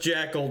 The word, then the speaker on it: JQL: JQL is pronounced Jackal.